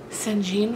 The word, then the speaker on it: St. John: I've also heard people pronounce it St. Jean Fox, but I'm going to call him St. John because that's how it's spelled, S-T period John.